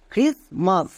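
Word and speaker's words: Christmas: এখানে টি কিন্তু সাইলেন্ট।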